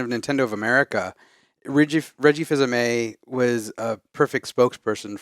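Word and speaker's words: Fils-Aimé: fans of this man Reggie fils-aime yeah and you're the only one I know who can say his name properly I always say Phil's amaze fills me so let's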